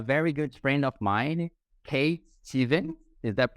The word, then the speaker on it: Kate Stevens: we are here today with a very good friend of mine, Kate Steven. Is that pronounced correctly?